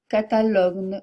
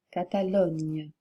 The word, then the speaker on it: Catalogne: que la graphie n y du catalan ne prononcez pas espagnol mais espagnol ou Catalogne non Catalogne le son G F J ou j faites